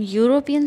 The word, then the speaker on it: European: example of european city in european city though the word is starting with e it sounds as in u y o u that's why y is the first sound that you hear and it is a consonant that's why we will